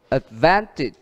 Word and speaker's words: advantage: Advantage. Đó, nhấn trước ở chữ van.